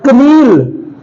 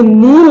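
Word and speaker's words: kneel: मतलब होता है जानना के एन डबल ई एल कनील कनील नहीं है बल्कि ये नील है क्योंकि इसमें के साइलेंट हो गया तो नील नील मतलब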